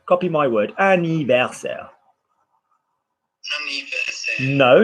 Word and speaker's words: anniversaire: Anniversaire. Copy my word. Anniversaire.